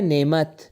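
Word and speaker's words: نِعْمَة: Arabic में अगर आप रुकना चाहेंगे तो आप क्या तलफुस करेंगे? नेमा हा का तलफुस करेंगे। लेकिन अगर आप किसी चीज से इस लफज़ को जोड़ना चाहे तो ता का तलफुस होगा।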